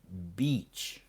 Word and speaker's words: beach: sea on the sand, we pronounce that beach, Beach. Beach. beach, Beach. just like peach, but beach. Okay, like peach, but beach. Perfect.